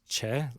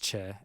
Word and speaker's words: Choi: it is choi yeah c-h-o-i but it's che as in c-h-a-e right so it's like